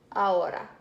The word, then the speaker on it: ahora: Now, ahora. This one's a bit hard to figure out if you aren't used to Spanish words. This H is silent, so it's ahora.